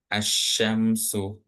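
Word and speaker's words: الشمس: Nah, di sini bisa kita lihat nih asyamsu ini di huruf lamnya enggak ada harakat. Kemudian setelah huruf lam itu huruf yang berharakat tasydid.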